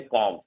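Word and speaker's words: comb: बी जो silent होता है जब एम के जस्ट बाद आप बी देखोगे तो बी साइलेंट होता है, ध्यान रखना। एम के जस्ट बाद अगर बी होता है तो बी साइलेंट होता है। देखो एम के बाद बी अगर होगा तो बी साइलेंट होगा, ध्यान रखना।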